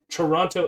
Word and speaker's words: Toronto: do a newscaster voice there are no two t's there toronto's infamously intense anti-lockdown